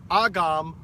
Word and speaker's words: Agawam: Now, the word Agawam, actually pronounced Agam, the translation is fish curing spot.